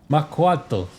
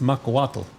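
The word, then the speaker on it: macuahuitl: Makuato. No, it's uh pronounced Makawatal.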